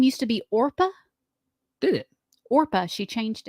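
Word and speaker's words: Orpah: name orpa early life orpa Gil Winfrey her first name was spelled orpa on her birth certificate after a Biblical figure in the Book of Ruth but people mispronounced it regularly and Oprah stuck so she changed it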